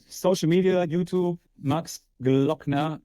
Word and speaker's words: Gloeckner: way uh all right social media YouTube Max glockner G l o e c k n e